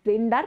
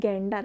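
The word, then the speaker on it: gander: ফক্স দেখবা গেন্ডার Goose this is নট জেন্ডার বানান দেখো জি এ এন ডি ই আর উচ্চারণ কি গেন্ডার বানানও কিন্তু জেন্ডারের থেকে আলাদা জি এ জেন্ডার বানান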